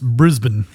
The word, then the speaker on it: Brisbane: He loves the way that we pronounce Brisbane. Sorry. Apparently it's Brisbane.